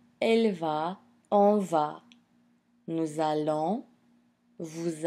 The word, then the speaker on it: allons: So as you notice, the nous allons, vous allez, double L, but it's pronounced L. It's not long E like in the case of famille and fille.